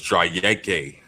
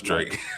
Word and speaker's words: Drake: It's Drayeke. Yeah, I wouldn't surprise me. No, it's Drake. I was like, well, there's not even an E on the end of it, so that's a little odd.